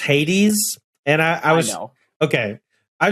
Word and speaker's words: Hades: It's pronounced Hades, and I know.